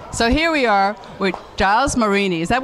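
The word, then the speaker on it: Gilles: Okay, so here we are with Giles Marini. Is that how everyone pronounces your name? Because I've heard it pronounced like 20 different ways. It's Jack and Jill. I'm the other one. Jill.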